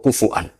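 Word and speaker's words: كفؤا: Itu bacanya seperti itu, kuf'an atau kufu'an bil hamzah.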